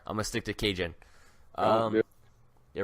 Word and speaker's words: Kajan: Doesn't have the same ring to it, but they said it was Kajan. No, I'm sorry. Hey, Cajun, sorry. I'm going to stick to Cajun. It rhymes with Ragin'.